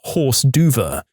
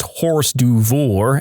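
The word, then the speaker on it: hors d'oeuvre: a neighborhood flyer about a pool party and pronounced odu as horse duva. My friend, who was a know-it-all at 16, laughed in a really exaggerated way and said, "I can't believe you just pronounced horse duvour as horse duver."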